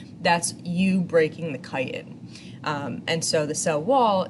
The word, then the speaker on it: chitin: that's made of chitin that's pronounced chitin with like a hard ch this is the same